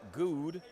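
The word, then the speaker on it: Goode: and shoot too so clifton good i believe is how it's pronounced now with spell g-o-o-d-e which of course you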